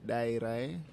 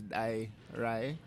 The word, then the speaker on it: Dairai: The biggest, I think the challenge with it is the D. Because in English, D is da. Like when you see D, you have to pronounce a hard D. Whereas this one is Dairai.